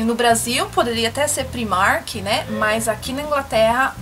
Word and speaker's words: Primark: lugar mas eh na hora de você pronunciar pronuncia da maneira correta que seria Primark e não Primark como muitas pessoas falam tudo bem no Brasil poderia até ser Primark né mas aqui na Inglaterra em inglês a